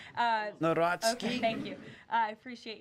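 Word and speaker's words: Nawrocki: He met with Carol Naraki, if I'm pronouncing that correctly. Yes, Natsky. Uh Natski.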